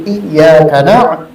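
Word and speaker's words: إياك: Yang paling banyak ditinggalkan tuh di iyyaka iya itu ditasdidkan, bukan kadang-kadang iyyaka na'budu wa iyyaka nasta'in, tipis mah itu baik, tidak ditasdidkan, tidak sah.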